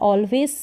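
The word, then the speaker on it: always: हो यह है ऑलवेज ऑलवे एस का उच्चारण ज करके हो रहा है ऑलवेज नहीं हो रहा ऑलवेज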